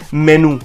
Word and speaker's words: menu: We have to focus and emphasize and stress more on N part. So it's menu, which means a list of dishes available in a restaurant. So इसकी pronunciation है MEHNYOO. Menu. So the next word is mischievous.